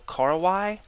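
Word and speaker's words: Korowai: They're pronounced Kor Y, so Karwai, and the Karwai tribe is actually quite famous, and you can even take tours to see them in action today.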